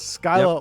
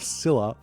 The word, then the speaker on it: Scylla: Sorry, there's an American pronunciation and there's an English pronunciation, and it's Scylla or Scylla, or whatever else you feel like. So exactly. And I've said Skylar for as long as